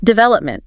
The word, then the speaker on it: development: Still a second. Development. Notice how D and Oman are sort of lighter.